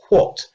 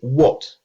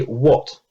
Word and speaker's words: what: introduced wh as but this isn't actually how most english speakers pronounce these two letters most english speakers don't say what they say what listen again most english speakers don't say what they say what this